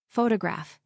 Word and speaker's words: photograph: Photograph, now photographer. Notice how the stress changes when the word becomes longer.